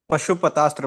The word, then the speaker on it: Pashupatastra: the weapon known as Pasupatastra. Is it Pasupatastra? My How do you pronounce it, Prabhu? Pasupatra. Pashupatastra, Prabhu. Haribol.